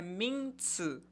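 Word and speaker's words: 名字: O substantivo em chinês, a pronúncia é minzi.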